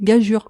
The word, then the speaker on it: gageure: Mais pour préciser aux nuls que nous sommes, qu'on dit bien gageure. Mais ça s'est toujours écrit pas, ça a toujours été prononcé gageure.